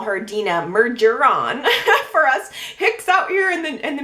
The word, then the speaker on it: Mergeron: She is in France, home of Dina Mergeron, as we call it here in the U.S. But Marianne was giving me a little bit of a French lesson, saying that in France, Dina's last name would be pronounced Mergeron.